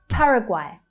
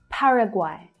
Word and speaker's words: Paraguay: Paraguay. Paraguay. So the first syllable is stressed and the third syllable is quite interesting. It's pronounced guay. Guay. Paraguay.